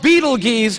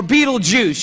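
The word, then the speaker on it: Betelgeuse: heard about this star it's called Beetle geese or Beetle Juice you can pick your pronunciation I'm obviously going with Beetle Juice and Beetle Juice is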